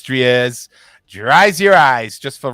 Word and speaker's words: Dries: tins out there but officially i want to pronounce it dries i know it's tries dries your eyes just